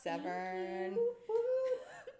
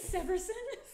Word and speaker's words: Severson: welcoming the beautiful shiona severn that's not even close to my last name but okay how do you say it severson severson i was just like